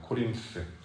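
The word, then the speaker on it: Corinth: 코림스. 고린도. 어, 코림스라고 영어로는 발음을 하는데요.이 고린도의 사람들은 철학과 웅변을이 수사학을 아주 좋아했던 사람들이에요.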